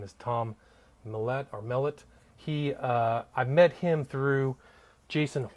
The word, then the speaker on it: Mellett: Well, I say Mellett. My older brother says Mellett. Okay. So Tom Mellett is what I usually accent the first syllable. Mellett, okay.